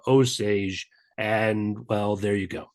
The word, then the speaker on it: Osage: When English speakers saw it, they pronounced it in English, simplified it to Osage, and well, there you go.